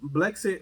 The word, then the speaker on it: Blexit: But I was looking at excuse me if I say it wrong. Is that the BL exit movement? Oh, Blexit.